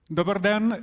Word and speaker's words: Dobar dan: Dobar dan, everybody.